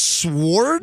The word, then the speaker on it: sword: ask us if it's sword the froggy was saying it with a W when is there a silent W besides sword swordfish yeah okay the silent W does all right so uh